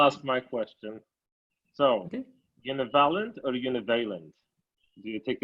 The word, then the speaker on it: univalent: I would say Vladimir pronounced it not univalent, but univalent, with the stress on the second syllable.